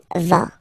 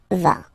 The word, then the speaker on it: vas: Okay, tu vas. Same thing here, final S not pronounced. Tu vas.